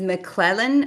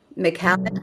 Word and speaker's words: McAllen: are you buy is is McClellan around there I can't say it right it's a Texas City McAllen I mean we're we are